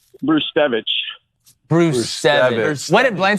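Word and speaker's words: Brzustewicz: pronunciation of that gentleman b r z u s t e w i CZ remember that yeah yeah you pronounce it bruevich Bruce what did bla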